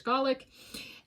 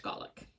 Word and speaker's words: Gaelic: There's Gaelic and Scottish Gaelic. Okay, they're not, they might be spelled the same, but it's Gaelic and Gaelic. Like garlic without the R, Gaelic for Scotland.